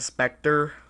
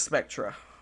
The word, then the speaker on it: Spectre: It's spelled the same way as this, but people call it the Spectre. It's pitiful. It's the wrong way to pronounce it. The right way is Spectra, just like this gun, Spectra.